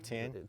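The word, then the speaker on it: Tein: It's got some Tane lowering springs, but correct pronunciation, by the way. Yeah. Right, Tane.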